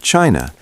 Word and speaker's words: qi: In ancient China, health was never just about flesh and bone.